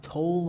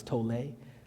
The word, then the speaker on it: Tolle: a wonderful teacher named eckhart tolle i think is how you actually pronounce it i always thought it was tole but he teaches that